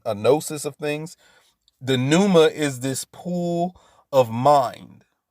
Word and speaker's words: pneuma: force which is the pneuma which is p-n-e-u-m-a the pneuma because the p is silent right so the pneuma